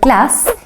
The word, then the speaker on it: glass: the S meanwhile in the word class you can hear the short version of the Swedish a the ah glass because there are two consonants coming after the a the two s's let's listen to the